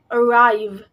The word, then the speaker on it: arrive: It is pronounced arrive. This word has a main stress. This word has the main stress on the rav syllable, or the second syllable in this word.